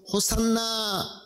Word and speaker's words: 호산나: 호시아흐나라는 이 히브리어를 당시에 헬라어를 쓰기 때문에 헬라어식 그리스어식 발음을 해서 호산나 호산나라고 찬양했던 것입니다.